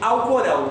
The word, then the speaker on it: Alcorão: O nome desse livro tem dois nomes, alguns chamam de Corão, alguns chamam de Alcorão. As duas pronúncias estão corretas.